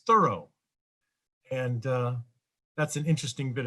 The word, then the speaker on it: Thoreau: side of his name, remember that most of us, including scholars, call him Thoreau, Henry David Thoreau, but his family actually produced or pronounced his name as Thorough.